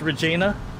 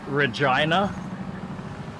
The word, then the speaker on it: Regina: And anytime we heard somebody pronounce it Regina, oh my word. Of course, we always knew pronounce it Regina. We knew the pronunciation. Regina. But every now and then we would hear somebody say Regina, and oh dear.